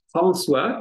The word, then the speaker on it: François: Ça se prononce François comme français.